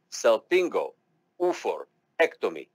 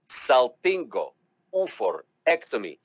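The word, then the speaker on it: salpingo-oophorectomy: it you say it you pronounce it cel pingo ufo ectomy salpingo for ectomy and then slowly but surely you will get into and you'll be able to say it together salpingophorectomy again i'm telling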